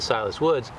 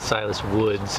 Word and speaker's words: Silas Wood: i can with a silas woods um it's actually not silas woods it's a silas wood i always say it wrong but um this is